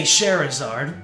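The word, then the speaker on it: Scherazard: Well, how how else would you say Sherzard? That that that's how I remember how to say her name. I I just think of Charizard. Shaherazard and Charizard.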